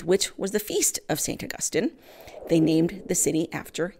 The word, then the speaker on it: St. Augustine: a half century to St. Augustine, Florida. Well, they actually pronounce the name of the city as St. Augustine. Catholics, of course, pronounce the name of the saint as St. Augustine.